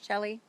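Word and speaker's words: Chelle: yep is that is that Shelly did I pronounce that right that right c h e l l e Shelly yeah overheating because it's the you know the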